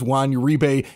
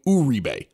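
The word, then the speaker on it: Juan Uribe: of our Stadium we've always known him as Wan rebe he goes to the Giants and they're calling him Ube and it was like wait wait he changed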